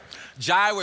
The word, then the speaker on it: Jireh: Jireh is probably the most popular of the compound names because it rhymes with provider.